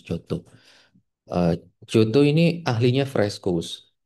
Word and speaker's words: Giotto: Ini pronounce Giotto.